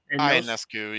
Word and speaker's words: Ionescu: Ionescu, yeah. Thank you. I can't pronounce her name.